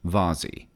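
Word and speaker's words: VASI: path to fly by the wavy ASI is pronounced vazhi it is not something in which you put flowers a vazhi usually consists of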